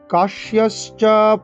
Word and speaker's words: কাশ্যশ্চ: কাশ্যশ্চ কাশ্যশ্চ পরমেশ্বাসঃ কাশ্যশ্চ পরমেশ্বাসঃ শিখণ্ডী চ মহারথঃ শিখণ্ডী পরমেশ্বা। কাশ্যশ্চ এখানে কোনো দীর্ঘস্বরের টান নেই, পরমে মেতে টান, পরমেশ্বাসঃ পরমেশ্বাসঃ পরমে শ্বা তালিব্য সবাই শ্বা এরকম উচ্চারণ করতে হবে।